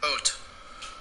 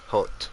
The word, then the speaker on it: haute: They have like a YouTube for Haute. Haute. Haute. Haute montagne. Haute montagne. What does haute mean? So if montagne is mountain, haute must mean fashionable or elegant.